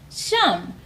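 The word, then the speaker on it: שם: Shem in Hebrew is pronounced Sham.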